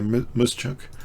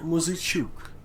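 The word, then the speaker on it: Muzychuk: uh D5 for Maria musuk uh you want I'll try and get the pronunciation from this is from chess Gamescom Maria yes that's much better than mine so Maria Muk that's how you pronounce it okay so she's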